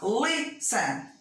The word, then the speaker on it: listen: Você tem lá, listen. Olha a entonação fonética. Listen. A primeira é forte, a última é fraca, e não dobra.